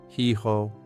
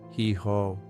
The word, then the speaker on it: hijo: The letter J sounds like a strong H from the back of your throat. Son. Hijo. Hijo.